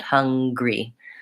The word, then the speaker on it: hungry: with the two syllables I'll write it out for you so what I'm saying I'm hungry it's huh three so then there's no syllable in there so it's just gree hungry versus hunger read three